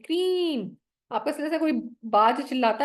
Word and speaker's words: क्रीम: लिख के दिखाती आपको क्रीम इसके स्पेलिंग जाएंगे आपके इंग्लिश में क्रीम क की आवाज और र जैसे न नाक से आवाज आ रही हो ठीक है क्रीम सुन